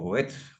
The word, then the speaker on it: Göth: de este personaje de among o goet bueno como lo pronuncian en alemán eh es una canción